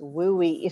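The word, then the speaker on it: WUE: It's pronounced WUI, so it's kind of fun to say.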